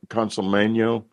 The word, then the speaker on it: Consolmagno: He mentions, by the way, this viewer, that he's met Brother Guy Consolmagno. Is that the mm-hmm. correct pronunciation?